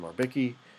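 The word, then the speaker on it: Merbecke: things John mebec um some people pronounce his last name mariki um um did for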